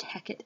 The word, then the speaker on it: Hecate: the name Hecate it's pronounced Hackett in this play and write down that